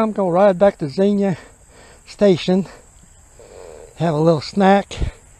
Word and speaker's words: Xenia: At Xenia, X-E-N-I-A, Xenia. I know it sounds like a Z, but it's spelled X-E-N-I-A.